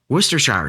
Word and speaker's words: Worcestershire: the craziest part of it is pronounced Worcestershire sauce.